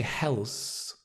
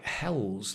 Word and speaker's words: health: th sound um Health the problem is if you say health health it sounds like Hells like Hell's Kitchen like Gordon ramsy's Hell's Kitchen Health the the tongue just touches in between the teeth health very very very light very soft your whole jaw is